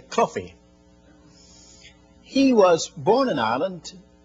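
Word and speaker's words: Caughey: That's spelled C-A-U-G-H-E-Y. In Ireland, we'd call that Coffey with a guttural, but most Americans can't say Coffey, so they say Coffey.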